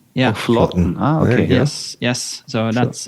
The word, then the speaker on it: Flaatten: Yeah, so the double A is Norwegian syllable Å. So it's Flaatten. Yeah, Flaatten.